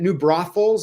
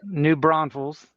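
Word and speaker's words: New Braunfels: It has to be hot down there in in uh New Bro, is that New Brothe Falls? Is that how you say it? New Bron Falls.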